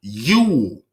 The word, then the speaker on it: Jul: So it's pronounced Yule. So the letter J is synonymous with Y. So Jule is pronounced as if it starts with a Y.